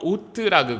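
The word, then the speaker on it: אות: 자,이 가인에게 준 표를 히브리어로 오트라고 그래요. 오트. 자, 오트. 우리가 참 기억하기도 좋습니다. 우리 건강식으로 먹는 오트밀이라는 거 있잖아요. 그거랑 발음이 똑같아요. 오트.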